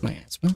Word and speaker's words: miasma: It's pronounced miasma.